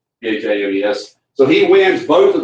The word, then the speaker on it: Thames: It's spelled like Thames River in England, but Thames, Thames.